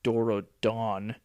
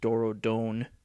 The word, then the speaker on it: Dorodon: is supposed to mean I think they called it Doro Dawn in uh starc but I believe it's uh UPL is a Japanese company so it probably should be pronounced Doro Don but yeah I've never